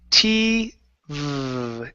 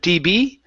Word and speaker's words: TV: Uh, next one here is T V TV instead of TB.